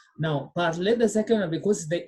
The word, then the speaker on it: parler: Pronounced the three are pronounced the same. The first one is parler. The second one is parler. Because of letter R, A is pronounced. So R is what is silent. Now, parler, the second one, because the E has got